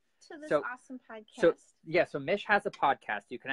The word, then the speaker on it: Mich: So Mich has a podcast. You can actually find it. So it's her name's Mich. Think of like Michelle. That's how you spell it. MICH. And it's Mishmash. MICH mash.life.